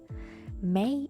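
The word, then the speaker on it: Mei: that let me explain May in English even though it's written m eii is pronounced like the fifth month of the year however in all Japanese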